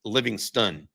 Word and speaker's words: Livingstone: Uh according to the UTS ID, the proper way to say it is Livingston, like the Texas city that has a lake.